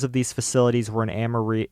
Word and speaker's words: Amarillo: The locations of these facilities were in Amarillo. Is it Amarillo or Amarillo? I think that the Americans would call it Amarillo, but Amarillo means like yellow in Spanish, so...